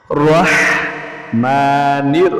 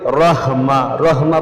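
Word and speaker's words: الرحمن: বিসমিল্লাহির রাহমানির অনেকে বলে রহমা রহমা বললে অর্থ পরিবর্তন হয়ে যায় আপনার নামকে যদি আমি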